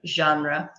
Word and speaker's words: genre: it's its height Bristol's this work is a French word which we have borrowed in English okay so you can use a French pronunciation okay genre history of the Android